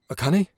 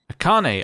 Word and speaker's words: Akane: daughter sorry i'm late oh akani akane i wasn't that far off i'm not here for